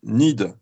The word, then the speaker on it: NIIED: La bourse, ça s'appelle NID. Ça s'écrit N-I-I-E-D. N-I-I-E-D.